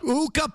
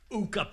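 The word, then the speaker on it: Luukkonen: Ukah Pekkalucan and said he saved him. But ultimately, because his name is Ukah rhymes with puka.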